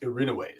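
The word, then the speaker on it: Erinyes: yeah the the the the Greek word for Furies is irin which is spelled kind of weird it's e r i n ye s so it looks like irin yes but it's the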